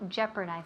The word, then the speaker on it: jeopardize: To jeopardize that O it doesn't it doesn't sound. You can't hear the O at all.